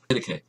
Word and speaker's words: Didache: So, Didache is how it's pronounced.